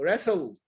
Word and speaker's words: wrestle: W is also sometimes not pronounced.